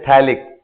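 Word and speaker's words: phthalic: इसको बोलते हैं थैलिक, PTHALIC, थैलिक acid. थैलिक acid. इसका कॉमन नेम क्या होता है? आइसोथैलिक acid. P साइलेंट है इसका।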